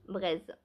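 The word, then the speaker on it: Breizh: comment ça se prononce B r E i ZH braise braise comme la braise est-ce que ça se prononce comme ça je ne sais pas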